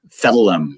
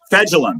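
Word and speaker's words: Fejedelem: Fedelum, or whatever his name is. I can't pronounce his. I can't pronounce his last name either. I was really hoping you could. Fedulum, yes. Yes. It's Fegellum.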